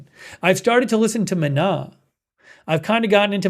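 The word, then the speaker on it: Maná: It's spelled ma and the second a has an accent on it. It's called mana.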